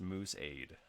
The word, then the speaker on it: Mooseade: It is Moose. It says it's pronounced Mooseade, so I think I got that one.